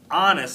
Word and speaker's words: honest: that's a good guess but honest starts with a silent h mrs brisbane wrote the